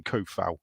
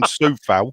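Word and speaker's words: Coufal: Even David Moyes calls him Koufal. So listen back to it, yeah, people. Don't listen to the Sean Whetstones of the world who call him Soufal.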